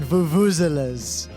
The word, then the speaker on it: vuvuzela: So I realized what needs to happen with the fucking vuvuzelas. And it's it's vuvuzela at the end. It's a schwa, not like an or an ah.